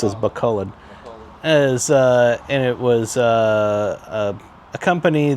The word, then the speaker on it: Bacolod: I think that's how they pronounce it, Bacolod.